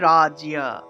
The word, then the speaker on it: রাজ্য: ঠিক আছে তাহলে রাজিয়া উচ্চারণটা হবে রাজিয়া এখানে দেখুন জ ফলা আমরা যে জায়গাতেই পাবো এই যে রাজ্য এর সাথে এই যে বর্গজ এর সাথে জ ফলা আছে তাহলে জ ফলার পরিবর্তে আমরা ইয় উচ্চারণটা করে ফেলি তাহলে রাজিয়া রাজিয়া এইভাবে রাজ এবং ইয় এই দুইটা শব্দকে একসাথে উচ্চারণ করতে হবে একসাথে সময় নেওয়া যাবে না রাজিয়া রাজিয়া একইভাবে দিব্য